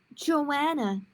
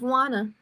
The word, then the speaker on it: Juana: my teacher took attendance she called out joanna instead of wanna i wanted to say my name is wanna but my mouth wouldn't